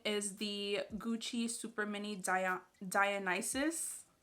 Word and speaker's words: Dionysus: the gucci super mini dionysus i had to look up how to say it because i was definitely saying dionysus i was like that does not sound right so yeah this is